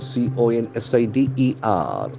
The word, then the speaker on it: consider: form of the verb c o n s i d e r consider consider the accent for of the second syllable consider consider beautiful you